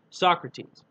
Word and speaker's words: Socrates: as spelled like it's Sokrates but it's actually pronounced Socrates and Socrates was supposed to be the Mater